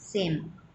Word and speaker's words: Sejm: सो सेम. SEJM. जे यहाँ पर control है, साइलेंट है, इसलिए इसे सेम इस तरह से रीड करते हैं.